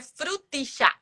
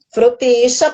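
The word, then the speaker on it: frutilla: A gente aqui é frutixa. Frutixa, porque se escreve com 2 L's, né, pessoal? Então, por isso que para eles lá é frutixa.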